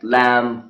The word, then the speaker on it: lamb: sound has been eliminated from these words like lamb comm bomb num and climb again in the words doubt and death B is silent okay and it is because of the